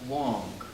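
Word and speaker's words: 王: This is a very old Chinese character, and it's the character for king, and it's pronounced Wong.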